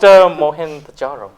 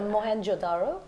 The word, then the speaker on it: Mohenjo-daro: So you watched Mohenjo-daro. You didn't pronounce that? No, but I'll fix it for you. That's your job. It's Mohenjo-daro.